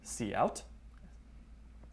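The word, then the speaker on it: cout: break it down really quick sed : : see out stamp means character output stream it is pronounced see out and what this does is it will take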